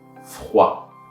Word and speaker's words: froid: So it's just going to be froid, because by the way, O and I sounds like wa in French.